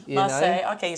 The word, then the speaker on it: Marseille: Like Marseille. Like Marseille. Marseille.